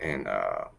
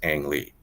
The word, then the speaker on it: Ang: you would actually correctly write it in out and romanized it would be like an but he's